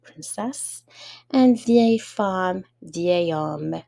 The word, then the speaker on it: homme: and vieille femme, vieil homme. So the H is silent for homme.